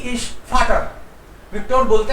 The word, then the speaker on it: Vater: या बट we have to practice that फै sound. That's why I have taken फाटर. एक बार लिख लीजिए सर. फाटर क्या है? Spelling FAT. या दिस वन.